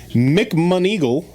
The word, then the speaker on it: McMoneagle: McMonigle. McMonigle. That's a fake name. I've heard that name before. Actually. Joseph McMonigle. It's spelled McMoneagle.